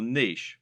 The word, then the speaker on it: niche: internet business parlance what is your Niche or niche as some people pronounce it a niche is a